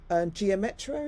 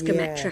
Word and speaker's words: Gometra: So in the Wild Service essay, you're talking about your time on Geometra, is it? Gometra. Geometra. I think it's Gometra, how it's pronounced, Gometra, And you write, this